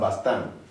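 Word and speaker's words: bastant: Then we have bastan. Then again, the T is silent. It doesn't sound.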